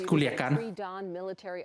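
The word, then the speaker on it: Culiacán: Mexican authorities It's Culiacan.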